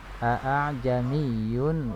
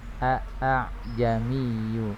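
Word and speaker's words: أَأَعْجَمِيٌّ: Tidak dibaca a'jamiyu wa arabi, tetapi diringankan hamzah yang keduanya. Cara membacanya adalah seperti ini. A'jamiyu wa arabi. A'jamiyu wa arabi. Jadi ringan hamzah yang keduanya. Tidak a'jami, tapi a'jamiyu wa arabi. Hamzah yang pertama jelas a, kemudian yang keduanya ringan.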